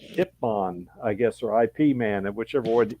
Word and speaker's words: Ip Man: It was I guess the Chinese pronunciation was Yip Man.